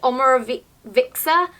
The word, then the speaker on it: Omorovicza: I got this on Cult Beauty, it's by the brand Omoro-- vicza? Omorovicza. I can never say it properly, it's-- It's a brand I struggle to pronounce.